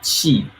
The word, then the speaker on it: qi: But when it comes to energy, qi, C-H-I, we call qi, or Q-I. It's two different pronunciation. One pronunciation, but two different pinyin, C-H-I, qi, or Q-I, qi. So those two represent qi.